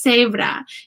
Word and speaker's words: cebra: making an S sound, the word zebra, spelled exactly the same, is pronounced cebra in Spanish. Cebra does not sound like zebra.